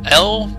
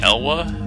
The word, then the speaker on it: Elw: he just died serious device don't touch it L that's how I pronounce it elw I guess some people will say elwa I say l just because it's a little